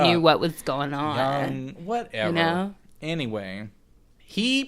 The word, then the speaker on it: Jung: Is that how you say it? Oh, I think it's Young.